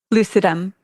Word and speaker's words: lucidum: So reishi mushroom is Ganoderma lucidum, and lucidum also like lucid. It means like light or bright. And so our company's name is Lucidum.